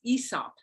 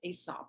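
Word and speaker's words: Aesop: up and the way you pronounced that is ESOP it's not pronounced asop it's ESOP so this is a retelling of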